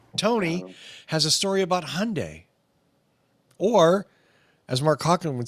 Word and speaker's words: Hyundai: Tony has a story about Hyundai. Or, as Mark Hawken would say, Hyundai. It wasn't the one I expected when I saw their name either. So, Hyundai, I'm trying to get every possible Like Sunday.